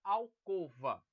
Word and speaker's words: alcova: de sangue álcool valkova a gente vai perceber que a correta é alcova Então quem falava alcova